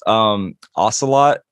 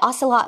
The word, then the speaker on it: Oscillot: Ocelot? Like, is it oscillate? Like, I have to look it up. Yeah, it's like oscillate. It's OSCILLOT.